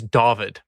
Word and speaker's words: Dawid: name my name is Dovid mm-hmm you pronounce it like awv and like English or like American English I guess you would say yeah yeah so it's